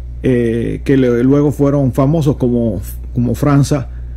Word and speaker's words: França: No se pronuncia Franca, se pronuncia França, porque es en portugués, y la C con el rabito ese se pronuncia como si fuera una C, una Z.